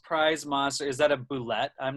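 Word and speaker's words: bulette: Is that a boulette? I'm not sure what his most prized. Oh, you have pronounced it incorrectly. Well, I know it's supposed to be pronounced boulet, but that's not.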